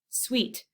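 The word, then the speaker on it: suites: have a candy bar this is spelled differently it's spelled Sui tes sweet dance Queens in other words and so instead of thinking of the word sweet you could instead think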